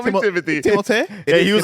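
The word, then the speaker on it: Timothée: zende dea's name which everyone still pronounces incorrectly it's timot but he says just call me Timothy because that's how everyone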